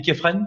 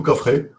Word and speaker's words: Khéphren: On dit Képhren, c'est ça, Freddy? Képhren ou Khafré, dans la langue natale, c'est le fils de Khéops.